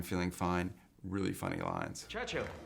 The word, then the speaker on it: Churchill: Churchill. That's how you say it, all together like that. I'd heard church and hill, but couldn't find either.